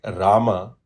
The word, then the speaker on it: Rama: This deletion leads to Sanskrit words like Rama being pronounced as Ram in Hindi.